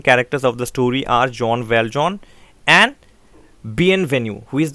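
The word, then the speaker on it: Jean Valjean: one k basis in character set now the pronunciation is not actually g in valgen it is in french it is it is john valjean or john valjean okay uh this john valjean is actually a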